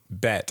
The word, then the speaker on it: Bette: So she was named after Betty Davis, her mother not knowing that it was not pronounced Bet. So she went by Bet instead of Betty.